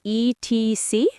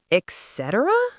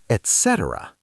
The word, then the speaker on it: etc.: You mean ETC? Yes. How do you pronounce it? Etc.? Many people say that, but it's wrong. Oh no. What's correct? Etc. The first part is et, not x.